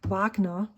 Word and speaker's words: Wagner: which I really like Vagner Vagner is the actual German pronunciation I bought a kiwi